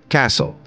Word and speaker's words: castle: here T is silent Castle here T is silent cupboard here p is